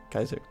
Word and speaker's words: Kaiser: get the discount for having like Kaiser Kaiser Kaiser that is how you pronounce it but yes so these guys only